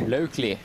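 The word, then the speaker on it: Laukli: This is American Sophia, how do you pronounce it? Locally.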